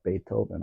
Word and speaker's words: Beethoven: It's Beethoven, actually. The H is silent.